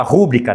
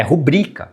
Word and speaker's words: rubrica: Ah, erro de erro de prosódia, então assim, a maioria das pessoas fala rubrica, não é, aliás, fala rúbrica, né? É rubrica que se fala. Né? Então, abreviação da assinatura, né? É rubrica, tá?